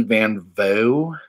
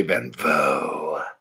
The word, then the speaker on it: van Vogt: Van Vogt. Van Vogt. I'm going to say Van Vogt for now on.